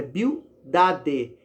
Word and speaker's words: Bildade: Bildade, às vezes a gente fala rápido e erra a pronúncia do nome dele, mas é Bildade, Bildade.